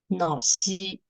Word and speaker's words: Naxi: Na here means black, as you said just now, and Xi means person here. So the Q, letter Q, is the symbol of falling tone here. So it should be pronounced as Naxi.